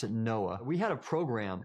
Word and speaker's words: NOAA: For example, when I was with the National Oceanic and Atmospheric Administration, we pronounced it NOAA.